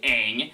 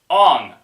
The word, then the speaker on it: Aang: Because in the show, it's clearly Sokka, it's clearly Aang, it's clearly Iroh, but in the show, they're just like, Ong, Sokka, Iroh.